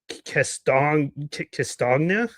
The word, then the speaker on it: Castagna: I believe you pronounce it Jonathan Castagna, something like that. It's hard. Would it be similar to lasagna? Castagna? Yeah, Castagna. Yeah, something like that.